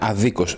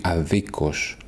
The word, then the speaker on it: αδίκως: Note the difference in the stress. Okay, the words in os will have the stress in a different syllable. The adjective will be άδικος and the adverb will be αδίκος.